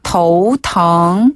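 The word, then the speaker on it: 头疼: 쓰고요 아프다라는 뜻의 단어는 텅 텅 텅 그래서 더우 텅 더우 텅 더우 텅 아 어지럽다 더우 텅네 머리가 아프다는 더우 텅 더우 통 어지럽다는 더우 윈 아 윈 하다가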